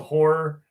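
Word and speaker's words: HO99O9: So I like this band called Horror.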